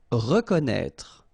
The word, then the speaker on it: reconnaître: Reconnaître. So exactly the same thing with this accent circonflexe on the top of E. You don't pronounce it, okay, but you should write it.